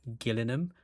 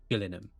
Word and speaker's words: Gillingham: Yeah, they're spelt the same, but one's pronounced Gillingham and one's pronounced Gillingham. So if it's Gillingham, that's down Somerset, near Yeovil. And if it's Gillingham, then it's in Kent, which is next to London.